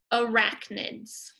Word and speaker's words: arachnids: So I want you to say that word, arachnids. Let's clap it out. Arachnids, three syllables.